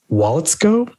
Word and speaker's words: Waletzko: But this other name, tackle Matt Waletzko. Mm-hmm. Am I pronouncing that correctly?